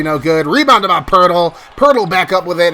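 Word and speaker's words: Poeltl: gets the layup there that's how his last names actually pronounced by the way hurdle not petal as some people say it's Pirtle as they get a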